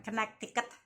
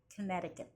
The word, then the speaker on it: Connecticut: di negara bagian Connecticut, bukan Connecticut, Connecticut. Gitu cara bacanya, Saudara-saudara.